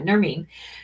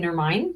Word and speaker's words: Nermeen: And so I was pronouncing it wrong, and I did it again. Yeah, Nermeen. So as opposed to, I kept saying Nermine. So Nermeen.